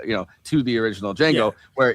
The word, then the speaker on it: Django: N G O the the D is silent.